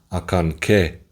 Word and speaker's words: Acanceh: actually there are three pyramids and it's actually pronounced akan which means the Cry of the deer as